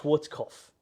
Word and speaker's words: Schwarzkopf: I can't pronounce it. Schwarzkopf. There you go, Schwarzkopf.